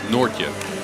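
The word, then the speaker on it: Noortje: Well, you wrote it down like Nort, but it's Nortje. Nortje. Nortje? The J isn't that pronounced, but Okay.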